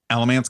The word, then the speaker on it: Alamance: Fun fact, the town of Mebane is located in both Orange and, pronounced it the way it's spelled there, Alamance County.